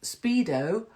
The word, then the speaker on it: Speedo: Speedo rhymes with pedo, right?